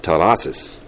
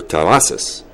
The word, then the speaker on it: Terrazas: Now, when he was introduced, Mayor Garcetti pronounced his name as Ralph Terrazas. Okay? Okay? Then as it all went by, toward the end, it was no longer Terrazas. It was Terrazas.